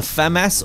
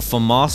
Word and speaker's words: FAMAS: from Black Ops 1 this is the Famas or Famas depending on your prefer third pronunciation uh but there were